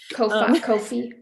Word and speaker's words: Ko-fi: Nobody knows how to say it. Ko-fi. Yeah, I would buy me a coffee, which is spelled Ko-fi.